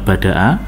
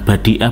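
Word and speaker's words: بدأ: Bintang ini merupakan bagian dari fi'il madhinya bada'a. Bada'a. Jadi ini masuk dari wazan fa'ala ya, bukan badi'ah, bukan badu'a, tapi bada'a.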